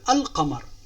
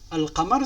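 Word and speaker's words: القمر: prendre ici l'exemple de al-qamar. Al-qamar c'est la lune, comme vous pouvez voir dans l'image. Vous l'avez compris, al-qamar, donc ici le L se prononce.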